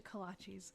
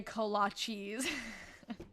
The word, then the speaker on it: kolache: Someone was saying, oh, and don't you dare say kolaches. Because I guess they pronounce it kolachas, but I feel like there's like a lot of different perspectives on that.